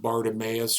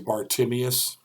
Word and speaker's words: Bartimaeus: what was significant about bartimaeus or i've heard it pronounced both ways bartimius this lyric sums up